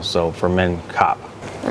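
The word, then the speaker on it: ครับ: It's actually K-R-A-P, but most of them don't pronounce the R unless you're being very formal. So for men, kap.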